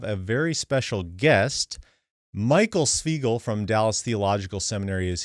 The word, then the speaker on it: Svigel: Yeah, my name is Svigel.